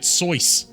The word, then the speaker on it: Seuss: The man himself pronounced it Seuss.